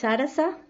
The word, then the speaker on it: Saras: My name is Sarasa. I know it's very confusing because it's written Saras. I have very dry throat, but it's pronounced with a little A at the end as Sarasa.